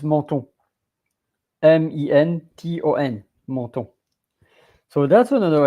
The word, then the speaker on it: menton: Because I think if I have to say it in English, it will be menton. But in French, menton, M-E-N, men, and then T-O-N, ton, menton.